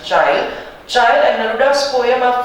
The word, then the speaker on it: Chile: अब आप उसको Chile pronounce करें या Chile pronounce करें, it is up to you. I will pronounce it Chile.